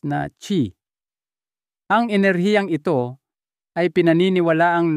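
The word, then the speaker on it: qi: buhay na kilala bilang jing o mahalagang k binibigkas na chi.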